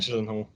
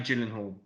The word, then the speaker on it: Gyllenhaal: Jack Gyllenhaal. Gyllenhaal, yeah, Maggie Gyllenhaal.